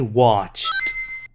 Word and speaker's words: watched: In the afternoon, he played, we just add ED, played tennis with John, and in the evening, he watched ED, documentary on TV. 3.